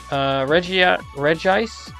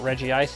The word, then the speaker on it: Regice: Regice. I refuse to pronounce it Regice. It's because it's spelled Regice.